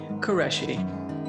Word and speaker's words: Qureshi: Qureshi.